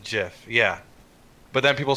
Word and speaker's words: GIF: jerseth i don't say gif the creator of the first chip ever pronounces it jiff yeah but then people